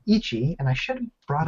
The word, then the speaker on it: Ichi: for the game called Ichi and I should have brought up the darn screen is that how you pronounce it Ichi yeah it's means one in Japanese ich okay I'm I'm